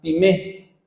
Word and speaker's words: timé: La palabra honor en hebreo es la palabra timé, con acento en la E.